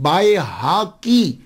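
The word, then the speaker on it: بیہقی: Pronunciation پہ بھی غور دیجئے گا، امام بیکی بیکی بیکی، ہم اکثر لوگ بیکی بولتے ہیں، لیکن میں ان کو غلط نہیں کہتا. کیوں؟ ہمارے معاشرے میں یہی ہے. اب بتائیے کہ امام بائے حاکی بڑا مشکل ہے پرونانس کرنا، تو معاشرے نے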